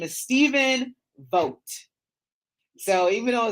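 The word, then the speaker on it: Vogt: his name is Stephen vote so even though it's v o GT you want to pronounce the G in that but the g is silent so it's actually Pro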